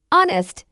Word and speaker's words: honest: Honest, our, and there are some of the few English words where the initial H is completely silent, meaning we use the article and before them.